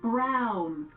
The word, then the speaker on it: Browne: you sure about it Browne rhymes with clown which I'm beginning to